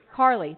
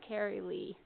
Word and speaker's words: Carolee: Is it Carolee? Carly, there we go. I've heard it enough times. It just looks like Carrie Lee.